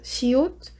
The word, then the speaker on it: 시옷: And we have the 시옷, so that's the sound for S.